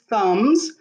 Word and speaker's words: thumb: it says mini thumbs up thumb you have two thumbs thumb t h u m b the at b is silent in thumb i'm going to stretch